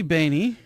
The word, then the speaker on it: Baney: Yeah, I'm definitely Baney, and you did pronounce that correctly.